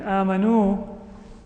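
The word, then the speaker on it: آمنوا: In amanu, this alif is just there as a silent letter. It doesn't say anything.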